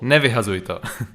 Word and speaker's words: nevyhazujto: you for the introduction and it is called nevi hazuito that's what it's called yes i'd like to